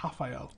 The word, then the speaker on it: Rafael: I mean, really, Rafael of Rafael da Silva fame should be Rafael. As they don't pronounce the R's.